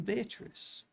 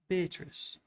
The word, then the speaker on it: Beatrice: Note, Beatrice. I use this word as it is pronounced in the Italian, as consisting of 4 syllables, of which the third is a long one.